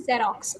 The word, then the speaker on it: Xerox: और फोटोकॉपी से मिलता जुलता है, दैट इज कॉल्ड जेरोक्स.